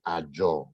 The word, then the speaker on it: Azure: Amazon, AWS, Microsoft, Azure. It's pronounced Azure, even though it's written Azure.